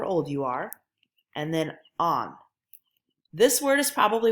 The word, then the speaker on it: ans: Kind of like the book is on the table, but think of it with an AH sound.